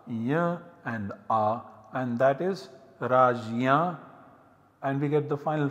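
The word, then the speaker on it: राज्य: form rajya once again this is pronounced differently radhnya ragna as well as ragna in different parts of modern india this is jay plus always remember raj ya that seems to be the pronunciation so these are the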